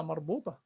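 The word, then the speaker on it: تاء مربوطة: I'm saying مربوطة, this is ta. So this one is called ta مفتوحة, and this one is called ta مربوطة. Now, ta مفتوحة and ta مربوطة, still is just ta. The pronunciation is pronounced ta.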